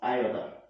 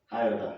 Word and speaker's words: iota: greek letter i so we pronounce this i as i order i order that that's how it is what it is pronounced that is root of what root of minus one that is if you see minus one under the square root so it is denoted by the greek letter and the high and that height is what is pronounced as i ordered that is i o t a v i is a